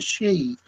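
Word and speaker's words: sidhe: places from Irish the she it's it's spelled s d h e um whereas in Ms it's it's spelled sh hou e so the spelling is different but the pronunciation the same I know uh midsummer's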